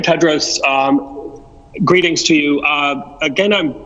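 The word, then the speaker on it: Tedros: for the question and the correct pronunciation of my name's dr. Ted Rose greetings to you again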